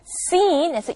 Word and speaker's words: scene: 자, scene이라고 하지 않고 scene에서 약간 길게 이렇게 끄는 모음이 나오게 되거든요.